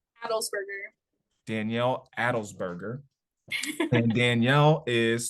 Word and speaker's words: Adelsberger: Danielle how do you say your last name adelberger Danielle adelberger and Danielle is 26 from Athens